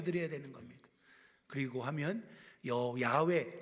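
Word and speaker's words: 야훼: 그리고 하면여 야외 제가 저 호바라고 안 하고 야외 발음식으로 야외 썼어요.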